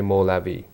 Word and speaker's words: Mawlavi: So when he started the Sufi order that is now known as Mevlevis in Turkey and in Arabic way, in Persian they would say Mawlavi.